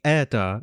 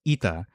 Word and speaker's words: eta: In other words, a lot of the vowels just got raised to e. So eta, it used to be eta, but now it's ita.